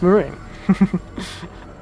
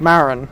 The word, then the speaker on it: Marine: this game a bit i always thought it was pronounced like maron because it seems to be a bit more of a pronunciation that makes sense but yes marine i say i don't